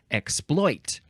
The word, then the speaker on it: exploit: And it looks like same pronunciations, but it looks like the more common pronunciation would be exploit, with the second syllable emphasized.